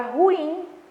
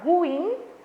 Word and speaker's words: ruim: Na palavra ruim, a sílaba tônica é no in, tá?